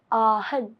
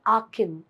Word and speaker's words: Aachen: अगर जर्मन के प्रोनाउंसिएशन से जाओगे तो इट इज आहन, आहन. But if you want to have an English pronunciation of this particular place which is there in Germany, so it is Aachen.